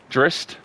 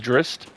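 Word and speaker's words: Drizzt: close to maybe 40 of those books now drist the legend of drist drist is that how you say it d-r-i-z-z-t uh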